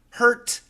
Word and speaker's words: hurt: Can you help me with the pronunciation of the words hurt, heart, and heard?